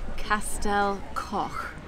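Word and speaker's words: Castell Coch: He said the name of the next place that we're going, Castel Koch.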